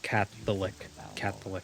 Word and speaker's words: Catholic: I never noticed how the O in Catholic is silent. I mean, I guess maybe it's not silent, but it's just very, very very like minuscule. So it's like Catholic. So it just kind of gets like smushed.